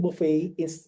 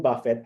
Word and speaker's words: Buffett: For example, earlier I heard somebody said Warren Buffett instead of Warren Buffett. Actually, it was double T in the end. So it should be Warren Buffett.